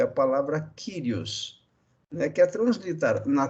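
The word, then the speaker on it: κύριος: conhecimento básico do grego tem a tendência de pronunciar kurios mas não se preocupem com isso dá pode impronunciar cores sem problema algum em é ou não pronunciar né agora a pronúncia correta na transliteração de senhor é do grego para o português seria kyrios então senhor kyrios é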